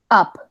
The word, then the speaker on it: up: Suena como si dijeran ustedes una A atrás, en el puro paladar, bien atrás de su cabeza. Por eso es difícil de encontrar una vocal que se asemeje en español, ¿de acuerdo? Porque no, pues no la hay, básicamente. Entonces aquí va. Up. ¿Vieron que Up. suena como una A? No como una O.